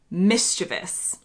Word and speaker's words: mischievous: So the next one I have on my list is what I would say as mischievous. My British husband says mischievous.